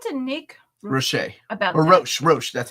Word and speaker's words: Roche: Talk to Nick Roche about or Roche.